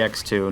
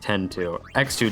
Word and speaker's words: X-2: final fantasy x-2 yes i pronounce it final fantasy x-2 not 10 2x2 just sounds a lot better anyways final fantasy x-2